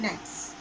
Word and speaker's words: knight: Then, K-N-I-G-H-T, knight and N-I-G-H-T, knight, pronunciation is same. Okay? Pronunciation is same. But its spelling and meaning is different.